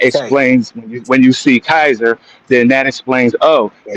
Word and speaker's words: Caesar: There is no soft C in Latin. It's all K. So when we say Caesar, that's not what it actually was. When they were saying it, they would have said Kaiser.